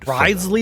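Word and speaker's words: Wriothesley: he's a very shrewd rley is how you say it yeah we heard about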